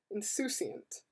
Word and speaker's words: insouciant: Really? Like soup? Oh, insouciant. Okay, not soup. There's no P. Insouciant.